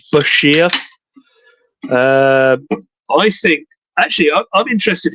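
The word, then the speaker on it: bichir: But yeah, as he put in his book, it's pronounced Bashir.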